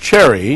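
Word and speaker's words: Cseri: saw your last name c s e r i pronounced Cherry yes and the game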